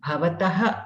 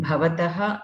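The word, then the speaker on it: भवतः: Okay, so here the pronunciations are really important in Sanskritam, as you all know, and many people have tough time remembering to use the Mahaprana Bha in Bhavataha and Bhavatyaha. They say Bhavataha, Bhavatyaha.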